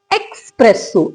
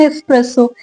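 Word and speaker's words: espresso: एक्सप्रेसो नहीं है ये. क्या बोलते हैं? एक्सप्रेसो. एक्स तो है ही नहीं, there is नो एक्स इन एस्प्रेसो. इसकी करेक्ट प्रोनाउंसिएशन क्या है, मेरे साथ बोलेगा? एस्प्रेसो. इसको पढ़ा जाता है एस्प्रेसो, राइट?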